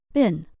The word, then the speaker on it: been: to answer this question try using the American English pronunciation bin have you ever been